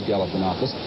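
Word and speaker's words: Galifianakis: North Carolina is Nick galanakis of Greek descent he one of his biggest problems in the campaign was to teach voters how to pronounce his name it is galopus and as of now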